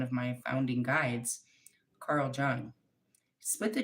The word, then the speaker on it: Jung: I don't pronounce the J. It's like a Y.